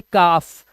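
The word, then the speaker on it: calf: L then focus on एल एफ से पहले आया तो उसमें भी साइलेंट होता है। जैसे काफ काफ मतलब होता है बछड़ा गाय का।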